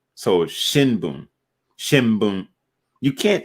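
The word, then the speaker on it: 新聞: And basically, if the n or sound comes before a B, then it's always going to be pronounced as M, like an M. So shinbun.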